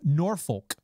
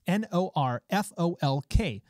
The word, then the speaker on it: Norfolk: North Norfolk it's pronounced n o R fol K but everyone around there called it Norfolk or no whatever it is they just didn't say it the way that it was spelled so we're gonna run